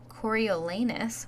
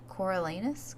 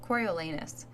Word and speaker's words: Coriolanus: president of panm 18-year-old coriolanus which I was pronouncing it coralus coralus I don't know what I was doing but corol lanus um so yeah so